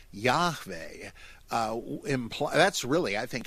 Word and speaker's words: Yahweh: J-A-H-W-E-H, pronounced Yahweh, and that they were trying to convey what the Hebrew would sound like.